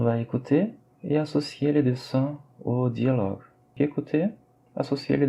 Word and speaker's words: dessin: Donc 3, troisième dialogue peut être associé au dessin. Rappelez-vous la prononciation de la voyelle nasale IN, là c'est 1, donc c'est dessin, ce n'est pas dessin, mais c'est bien dessin.